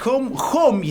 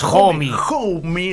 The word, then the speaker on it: Homme: Sí, Josh Homme se pronuncia. Yo le decía Homie, lo busqué para no quedar como un burro.